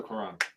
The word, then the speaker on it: Cuarón: Cuaron. R-O accent. Accent on the O. Ooh. Can you imagine Wakanda though? I could. Yeah, or Doctor Strange with Alfonso Cuarón.